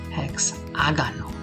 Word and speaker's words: hexágono: And yet again, we have that acento, that accent, that helps us pronounce the word correctly. Hexágano.